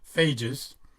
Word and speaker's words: phages: pronounced as I've been phages are like pages with an F are actually beneficial viruses